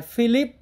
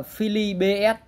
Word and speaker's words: Philips: Đấy, thì quen gọi là đài Philip nhá, tại vì nhưng mà ở đây nó không có dấu sắc nên là không đọc là thành Philip, thế nhưng mà đọc chuẩn ra là Philly BS.